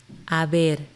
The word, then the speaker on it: Haber: Haber. This is an easy one because it only has one conjugation. Remember that the H is silent.